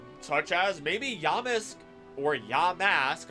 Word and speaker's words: Yamask: as maybe yisk or Yamask I'll say it right for you but yamus sounds better on my mouth tongue lips thing um I